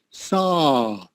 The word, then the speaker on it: saw: Saw. Remember, you have to open up your mouth when you say saw.